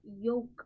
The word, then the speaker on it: yolk: yellow part ni manamu yolk ani anta, yolk ani antam. Yolk anamu, we don't pronounce l, so we call it as yolk.